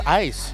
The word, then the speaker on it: ais: not oh that oh that's how you pronounce AIS ice ice yeah ice like ice cubes like ice Cub that